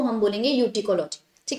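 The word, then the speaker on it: autecology: First is ऑर्टिकोलॉजी या यूटिकोलॉजी भी बोल सकते हैं. कुछ लोग इसको ऑर्टिकोलॉजी बोलते हैं, कुछ यूटिकोलॉजी बोलते हैं. यूटिकोलॉजी is more correct pronunciation according to मी.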